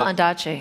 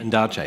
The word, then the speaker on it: Ondaatje: Michael Ondaatje. Ondaatje. Michael Ondaatje.